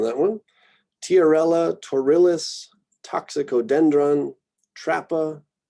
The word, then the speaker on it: Trapa: Tiarella, Torillus, Toxicodendron, Trappa. I don't think I hear Trapa, but I'm sure somebody says it that way.